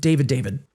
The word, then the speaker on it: D4vd: Again, I'm not pronouncing it D4vd. David.